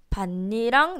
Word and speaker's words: 밭이랑: 밭니랑 내지는 바디랑이라고 읽습니다.